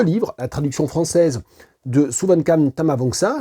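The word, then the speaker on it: Souvankham Thammavongsa: Pour gagner ce livre, la traduction française de Suvankam Tamavongsa. Le K ne se prononce pas, traduit de l'anglais par Véronique Lessard aux éditions Mémoire d'Encrier.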